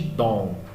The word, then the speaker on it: don't: Outra dica, gringo não fala o T, tá? Você vai ouvir muito o som de dom, ok?